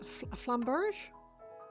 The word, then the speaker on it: flamberge: Last E is silent, so flamberge. Flamberg?